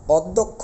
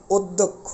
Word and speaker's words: অধ্যক্ষ: মত হয়ে যাবে একই রকম ভাবে দেখি হুম অধ্যক্ষ বলতে পারবো না এটাকে আমাদের বলতে হবে অধ্যক্ষ অর্থাৎ এরকম অদক্ষ অধ্যক্ষ বলতে হবে অর্থাৎ বিষয়গুলো